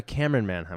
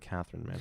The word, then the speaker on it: Camryn Manheim: description was amazing but a Camryn Manheim I believe I said Kathryn man I'm sorry for mispronounced so you didn't like